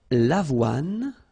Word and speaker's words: avoine: L'avoine. Remember, don't insist on the final E. L'avoine.